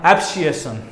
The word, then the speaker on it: abscission: इसको बोला जाता है एब्सिएशन, ठीक है।